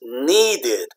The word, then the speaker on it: needed: get extra syllable okay words like need okay need is one syllable right but in the past is needed needed needed okay so when you put Edie that's extra so that that's that's one